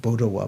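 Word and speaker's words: Potowa: kadampageshi's they're pronouncing it they're putting it as it sometimes is pronounced bodowa but you may see it a p-o-t-o-w-a potawa these five qualities loving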